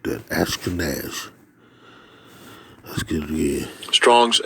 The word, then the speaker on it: Ashkenaz: I think it's Ashkenaz. Let's see. Here we go. Strong's H 813. Ashkenaz. That's how you pronounce that. Ashkenaz.